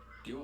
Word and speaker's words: Ryo: The Japanese R-L kind of a D consonant. I feel like I learned how to pronounce that properly from Shenmue specifically.